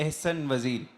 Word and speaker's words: Ahsan Vazir: और मेरा नाम थोड़ा डिफिकल्ट होता है प्रोनाउंस करना। बट मैं एक चीज क्लियर करना चाहता हूं। एहसन वजीर वो होती है दिक्कत।